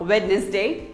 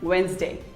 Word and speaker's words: Wednesday: it as wednesday but it is not wednesday it is actually wednesday say wednesday wednesday who